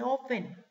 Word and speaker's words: often: Cuando les dije que no se pronuncia la T, se escribe often. Pero no se pronuncia la T, se dice often.